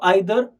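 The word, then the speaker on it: either: एंड देन देयर इज ईदर एंड नीदर, तुम दोनों भी प्रोनाउंस कर सकते हो, ईदर नीदर, या तो आइदर नाइदर, और उसका मीनिंग है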